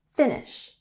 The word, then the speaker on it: finish: So finish, we have emphasis on the first syllable, finish.